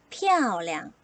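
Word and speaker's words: 漂亮: 자 g 예쁘다 입니다 예쁘다는 단어가 4성 경성 인데요 경성 이 나올 때 울 친구들이 발음을 좀 자신없어 해요 자 저번에 우리가 경선 경성을 연습해 쓸 때 샘플러 봤던 단어 아빠 어떻게 썼죠 빠밤 빠라빠빠 이렇게 소리를 했었죠 그러면 예쁘다 어떻게 소리를 낼 수 있을까요 빨아봐 피아 오량 빠바 피아 오량 높낮이가 같다 라고 하는 것을 생각해 주시면서 발음해 보면 좋지 않을까 싶어요 무튼 피아 뭐냐 예쁘다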